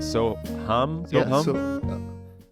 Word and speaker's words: Soham: correctly so is it so hum it's more hum like like you're like humming music yep in in yoga